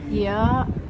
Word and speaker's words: Oia: I really like here, Oya? How do you say? Because I heard people saying Oya, people saying here. I say here because someone from here called the ear, so I think it's here.